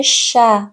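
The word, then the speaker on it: chat: خونده میشه فرانسه سه با اش که بیاد صدای ش میده برخلاف زبان انگلیسی که صدای چ میده توی زبان فرانسه صدای ش میده مثل شه مثل شه مثل شه یعنی گربه تی آخرش تلفظ نمیشه او این ای که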